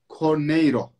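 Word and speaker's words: Carneiro: pas öyle forma gidip makreskon cornaro diye okunuyor Evet şimdi Fenerbahçe otelde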